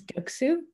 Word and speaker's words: Göksu: to uh as for that my name is guksu but on the internet it's really hard to